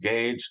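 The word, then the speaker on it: gauge: a u g e why it's pronounced gagee I'll never know it looks like it should say gge to me but it's gagee so the bottom line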